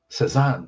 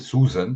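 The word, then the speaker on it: Cézanne: in a school called george stevenson high school cezanne so that so so they pronounced it susan so i had to say no it's not susan oh he used light and shade to produce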